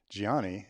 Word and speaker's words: Gianni: And Gianni said, well, please let them know that my name, Gianni Garubo, has both a soft G sound in it, Gianni, and a hard G sound, Garubo.